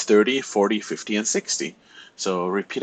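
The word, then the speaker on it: quarante: In French, you don't pronounce the ou here, so it's not quoi, it's like car.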